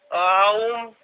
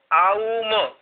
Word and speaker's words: ओम: ओम 2 प्रकार से बोला जाएगा, आउम आउम, मतलब वेदांत में ये 3 शब्द बताए हैं।